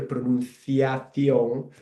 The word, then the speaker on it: pronunciación: for my purpose here, pronunciación. You can see there that the C sound when I pronounce it, it sounds a bit like the TH in English, like thunder.